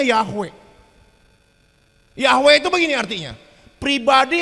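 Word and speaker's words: Yahweh: di situ Tuhan besar Tuhan besar itu dibacanya yahwe yahwe itu begini artinya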